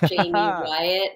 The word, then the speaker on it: Jaime: to spell my name it's jamie wyatt you know but it's it's spelt like jaime so j-a-i-m-e and then